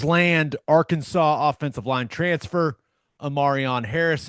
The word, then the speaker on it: E'Marion: Sooners land Arkansas offensive line transfer, E'Marion Harris, and that is E'Marion is how it is spelled out in their pronunciation guide.